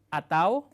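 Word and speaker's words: atau: ต่อ ไป นะ ครับ อาเต๋า อาเต๊า เ อาเต้า หรือ อาเตา นะ ครับ อาเตา แปล ว่า หรือ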